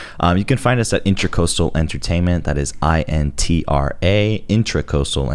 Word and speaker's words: Intracoastal: But you can find us at Intracoastal Entertainment. That is INTRA, Intracoastal Entertainment. Intracoastal. Yeah, okay. I found out that it wasn't intercoastal. It's the intra. It's intracoastal.